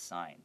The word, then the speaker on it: sign: of say what you would read on that sign, okay?